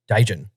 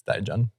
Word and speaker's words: Dijon: juice we weren't alive i'll take the dijon or is it gaijin it's dijon okay from english pronunciation die john um that sounded bad